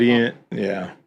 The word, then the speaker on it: Audient: I think that's how you pronounce the brand. Audient, Audient, yeah.